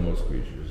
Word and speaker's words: Moskvich: 412 Moskvich.